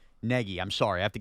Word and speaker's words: Nagy: Nagy Nagy I'm sorry I have to get this right. It's pronounced like N E G Y. Peggy. Yeah like Peggy.